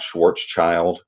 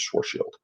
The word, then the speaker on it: Schwarzschild: the correct pronunciation is Schwartz field or at least that's as close as my English accent allows cuz it's a German name but the Schwarzschild radius